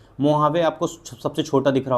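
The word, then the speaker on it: Mojave: मोहावे आपको सबसे छोटा दिख रहा होगा। स्पेलिंग में मोजावे है। लेकिन पढ़ते इसको मुहावे हैं। ठीक है?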